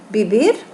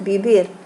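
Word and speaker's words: vivir: Alors, pour les verbes du troisième groupe, qui se terminent con ER, par exemple, le verbe bibir. Alors, en espagnol, il vite تنطق B. Donc, bibir.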